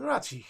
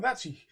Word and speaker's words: Razig: Captain ratzi yes Captain ratzi um then we have a captain ratzi and I don't know why but I I pronounce it the German Way as the the Z is pronounced as a TS Z like a little